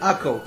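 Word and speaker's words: Akko: that's accurate i mean it's in hebrew it's called ako but uh the thing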